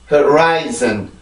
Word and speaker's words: horizon: 자, 앞에부터 차근차근 발음합니다. right, right, right, zen, zen, zen, horizon, horizon, horizon, horizon, horizon.